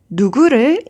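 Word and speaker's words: 누구를: object marking particle le du guru is often pronounced as dugu du guru is often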